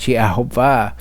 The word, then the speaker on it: Yehovah: He wrote that Jews pronounced the name with the vowels of Adonai, but read with its actual vowels, it would be correctly pronounced as Yehovah.